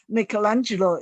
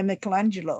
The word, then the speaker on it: Michelangelo: So Da Vinci is certainly a Renaissance man, and also you can say Michelangelo is a Renaissance man.